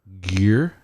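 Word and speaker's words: Gere: women women no Pretty Woman the movie Richard gear Gear yes is that how you say his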